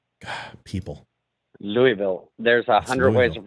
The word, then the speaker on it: Louisville: Louisville Kentucky I will remember that it's not Lewisville people Louisville there's a hundred ways of pronouncing it I know Louisville Louisville right now